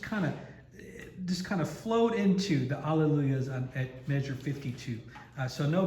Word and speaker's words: Alleluia: Every syllable is a pure open vowel, as opposed to Alleluia or any kind of thing like that, especially le. Le can turn to lay if we let it. Alleluia. And lu is the accented syllable of Alleluia. So we always want to give that a little bit more push when we're singing Alleluia,